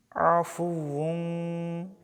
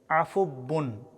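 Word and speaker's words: عَفُوٌّ: অক্ষরে ওয়াজিব গুন্না ইন্নাকা ইন্নাকা আল্লাহুম মা ইন্নাকা আফু আফু অনেকে ভুল করে বলেন আফুবুন ওয়াও অক্ষরের জায়গায় বা অক্ষরের উচ্চারণ করা যাবে না।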